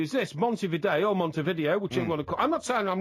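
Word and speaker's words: Montevideo: then well they pronounce maybe they pronounce it Monty video no no Monte video because it's Spanish it's like if you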